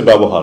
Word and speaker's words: ব্যবহার: ব্যবহার শব্দটা হচ্ছে ব্যবহার। কারণ আমরা অনেক সময় যে বাংলা উচ্চারণের ক্ষেত্রে আমরা সচেতন না, আমরা একটু সচেতন হওয়া উচিত।